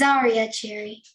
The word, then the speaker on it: Zariah: name correctly is it Zariah Cherry it's zarya Cherry Zaria okay the the accent is on a different syllable it's on the first syllabusary well congratulations young lady and